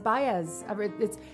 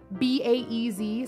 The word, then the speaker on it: Baez: Baez. It's spelled B-A-E-Z, so everyone thinks it's Baez. No, I am now Baez.